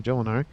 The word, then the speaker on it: Jolinar: Or Jolinar, not Yolinar. Jolinar. I guess it depends how you pronounce the J.